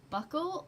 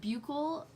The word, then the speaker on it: buccal: gonna surround your umbilical region next we have buckle or buccal depending on how you pronounce it this is gonna be your cheek